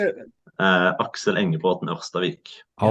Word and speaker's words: Aksel Engebråten Orstavik: Aksel Engebråten Orstavik.